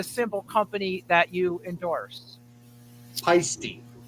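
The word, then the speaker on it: Paiste: How do you pronounce the name of the cymbal company that you endorse? Peisty. Not pasty, it's Peisty.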